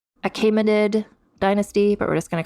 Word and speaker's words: Achaemenid: Technically, it has a different name, the Achaemenid, or I listened to a pronunciation, Achaemenid dynasty, but we're just going to call it Persian Empire.